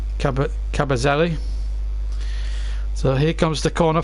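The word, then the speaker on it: Kabasele: Cabazelli, that's his correct pronunciation. I've been pronouncing it wrong all the time.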